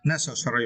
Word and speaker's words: necessary: for the worst uh necessary right and for this first we need to start the first syllable neck okay necessary necessarily it